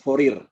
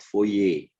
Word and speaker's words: Fourier: memang bisa didekati menurut furir rem itu deret fourier tahu ya Robbal ngomong benernya tuh bahasa Perancis deret foye Kalau saya bilang deret